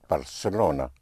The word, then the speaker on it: Barcelona: Well, that's how you will pronounce it in Castellian Spanish and parts of Spain, but everywhere else it will be pronounced Barcelona like an S.